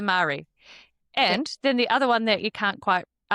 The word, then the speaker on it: Marie: But the Marie Isn't that a cereal? biscuit. Oh, they're the same thing. The Isn't that Marie? interchangeable? I would have said Mari, I think. It's a Marie.